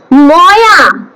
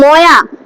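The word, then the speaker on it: मया: ময়া, বাদ বাকি কি আছে? ময়া হবে না, ঠিক আছে? সংস্কৃতে হয় না তার উচ্চারণ। মায়া, MAYA হয়, ঠিক আছে?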